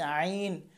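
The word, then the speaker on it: ع: তারপর হচ্ছে আইন, হ্যাঁ এবং আইন দুটো একই মাখরাজ। এই যে হলকের মধ্যখান থেকে, এই যে জায়গাটা দেখাচ্ছি এখান থেকে শুরু হচ্ছে এটা, শেষ হচ্ছে এটা, এটা হচ্ছে মধ্যখান। আইন, আইন।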